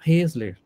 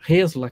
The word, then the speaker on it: Hesler: Na nossa equipe, nós temos o Rafael Hesler, ou Hesler, que eu pronuncio em alemão.